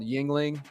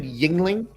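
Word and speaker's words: Yuengling: said you can't get Yingling in Michigan that sucks is that how you pronounce it Yingling Yingling yeah okay they don't have that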